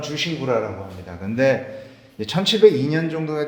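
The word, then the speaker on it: 忠臣蔵: 또 아시는 분들은 아시겠는데 충신장이라고 그러죠 우리나라에서는 중심장이라고 있는데 일본 발음은 주신구라라고 합니다 근데 1702년 정도가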